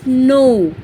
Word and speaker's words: know: Let us know. K-N-O-W. Here K is silent, so we will read it as know.